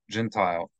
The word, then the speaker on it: Gentile: just gentle and then Gentile is a non-jew Gentile and here the accent on Tai Gentile Gentile actually no it's on